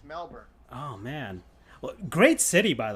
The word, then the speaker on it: Melbourne: That's how they pronounce it. It's Melbourne.